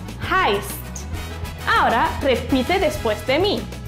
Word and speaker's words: heißt: Y después sigue EI. ¿Te acuerdas cómo se pronuncia? Correcto. AI. AI. Luego tenemos la SZ que se pronuncia como una S. Y como en alemán, tenemos que pronunciar todas las letras, no nos olvidemos de la T al final. Así que toda la palabra se pronuncia de esta manera.